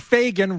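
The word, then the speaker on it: Fagen: don't even know R Donald Fagan rhymes with Ronald Reagan all right now he's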